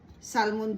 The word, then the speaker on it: salmon: Salmon ang tawag ang pronunciation kasi ng pag-pronounce ng ano ng ah salmon dito ay salmon. Iano i-silent Lila yung ano yung salmon kaya okay so na-slice ko na ang ating carrots.